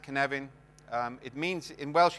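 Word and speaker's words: Cynefin: canvan canvan is a Welsh word um it's pronounced canvan um it means in Welsh it doesn't mean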